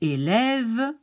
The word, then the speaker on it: élève: Le premier E avec l'accent aigu est prononcé comme la lettre A dans le mot anglais say. Le deuxième E avec l'accent grave de haut en bas est prononcé comme le A dans le mot anglais care. Et finalement, le dernier E sans accent n'est quasiment pas audible.